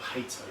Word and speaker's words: Haito: taller than 6 foot with just Haito or Hato, depending on how you pronounce it. We tend to say Haito, to be perfectly honest.